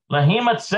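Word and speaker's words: להימצא: Okay, the verb lahimsa is also lahimatse. That's how you pronounce it.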